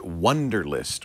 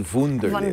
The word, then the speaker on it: Wunderlist: And that's what Wunderlist, or maybe it should be Wunderlist. Wunderlist. It's spelled W-U-N-D-E-R.